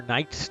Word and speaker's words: Knight: uh for King Arthur Knight's Tale affectionately known by me as Kant I know Knight starts with a K but you say it with an N because the K is silent so to me I